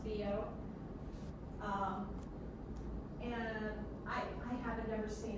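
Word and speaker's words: Biot: Now the book goes into, this is pronounced Bio.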